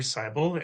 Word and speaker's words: Cybel: My name is Cybel and my last name does rhyme with Bible and I'm a a counselor in Edmonton, Alberta.